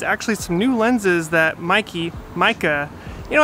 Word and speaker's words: Meike: some new lenses that mikey micah you know i think it's actually pronounced micah but i've always said mikey because we had this